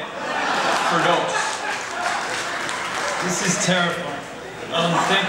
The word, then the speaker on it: Firdous: fear to bom gud he pronounced my name wrong say what is it it's um f it's okay fos fos do not forget it fos this is terrifying um